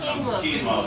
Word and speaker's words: quinoa: And the grain with it, I can't pronounce it. Quinoa. Quinoa, was it?